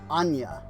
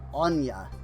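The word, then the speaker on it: Áine: Pronounced Anya, or Anya. The Anya flower first bloomed around the lake of Anya in Eri.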